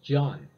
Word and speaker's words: جان: right then we have the word John I think it's very important word John like John Smith but the same pronunciation but different meaning John I think yes